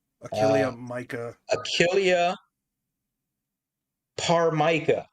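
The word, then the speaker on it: ptarmica: Achilia par mica which is spelled with a silent t I think. Pt a r mic. Pt a r m i c a this her.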